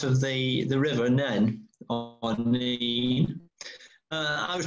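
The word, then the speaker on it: Nene: And the argument is that above Higham Ferris, it is the Nen, which is also the territory of Northampton Branch. And below Higham Ferris is the River Neen. But I believe it's the Neen. The locals will call it the Neen.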